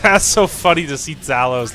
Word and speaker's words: Talos: dude like how how would you pronounce that it's spelt literally the same its Talos it's never gonna be anything else maybe you